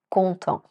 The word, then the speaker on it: content: Exemple : Il est content (masculin, le “T” est silencieux) Elle est contente.